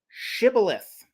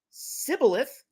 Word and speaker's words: Shibboleth: Quote, if he said no, they would say to him, Say now, Shibboleth. But he said Sibboleth, for he could not pronounce it correctly.